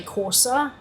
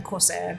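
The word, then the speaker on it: Courser: Corsair is spelled as like C-O-U-R-S-E-R. Like you're plotting a course with a Corsair rather than Corsair, but yeah.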